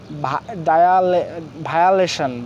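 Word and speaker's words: violation: So second rules IO এর উচ্চারণ সাধারণত আই এর মতো হবে। সো সেকেন্ড রুলস IO এর উচ্চারণ সাধারণত কী হবে? আই এর মতো হবে। যেমন হচ্ছে ভায়োলেশন, ভায়োলেশন, ভায়োলেশন হচ্ছে ভঙ্গ,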